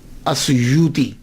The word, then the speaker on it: السیوطی: ایک ہے السیوطی، آسویوتی، الف کے اوپر زبر، شروع میں الف ہے، السیوطی، ابن القطب اور الشاذلی، یہ 3 ٹائٹل ہیں۔ یہ جو السیوط ہے نا، اس کے تلفظ میں 2 باتیں قابل غور ہیں۔ پہلی بات تو یہ ہے کہ اکثر الف چھوڑ جاتے ہیں، سیوطی کے علامہ جلال